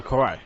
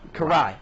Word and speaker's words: Karai: I I can never enunciate your name oh Corey Karai kuh Karai I know and it's funny because reading the